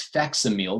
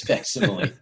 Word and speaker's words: facsimile: facsimile and um and i read it as facsimile because you know if you're on phonics that's that's the way you'd pronounce it and uh and people were like uh hey uh dummy it's fascinating and now i can